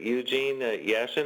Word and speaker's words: Eugene Yashin: Jim Riggio and we have a guest today Eugene Yashin am I pronouncing that correctly yes okay but yeah well